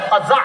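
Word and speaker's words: قزع: না এটা নিষেধ আছে বলেন আমার সাথে সবাই কজা বলেন কজা আবার বলেন কজা কজা কফ যা আইন বানানটা কজা বলেন কজা কজা করা নিষেধ সবাই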